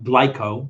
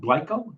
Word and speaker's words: Glico: oh okay uh the company is called uh glyco or GLE glyco glyco I think it's glyco GLI uh these are